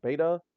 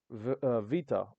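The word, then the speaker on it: βήτα: So the way we usually pronounce it is beta, but they pronounce it with a V sound for some reason. Vita.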